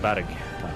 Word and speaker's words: Kolberg: Pronounced Badig. Badig.